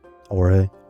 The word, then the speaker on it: Jorge: Did you say his name was Jorge or George? Jorge.